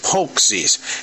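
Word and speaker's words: pączki: Donuts I'm going to call them folksies poxies even though it's spelled p-a-c-z-k-i see that's that's the American way of looking at words but today Tomos came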